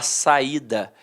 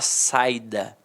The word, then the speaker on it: saída: Agora aqui, se eu tirar o acento, eu não vou falar saída, eu vou falar saida.